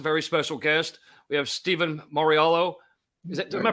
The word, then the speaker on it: Steven Mauriello: today's guest a very special guest we have stephen mariello is that am i pronouncing that correct steve perfect man perfect thank